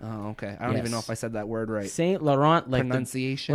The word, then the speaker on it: St. Laurent: Laurent yes or Saint Laurent the French pronunciation C French name okay Saint Laurent latency ation like the